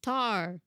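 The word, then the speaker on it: Tár: good the next one rhymes with r r r and has the probably runaway front runner for best actress it's tar oh tart tart tar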